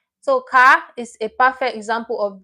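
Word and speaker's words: 가: So this is a perfect example of this first syllable. Car, to go. Car. Someone tells you car in Korea, it means go, right? So car is a perfect example of this first syllable.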